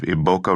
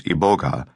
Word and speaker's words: Iboga: consuming huge amounts of Iboka rootbark shavings and experiencing a journey into supernatural realms. Iboka, also known as Iboga, the pronunciation that I will use from now on, is classified scientifically as